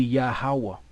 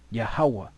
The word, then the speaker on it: Yahweh: They'll have their Hava, but we know there's no V in the Hebrew. It would be Yahweh. Yahweh.